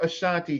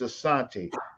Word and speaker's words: Asante: The word Ashanti comes originally from what's best pronounced as Asante, right?